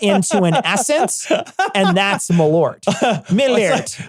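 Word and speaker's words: Malört: a Swedish variant of Malort, and I'm saying Malort here, but it's actually pronounced Malort.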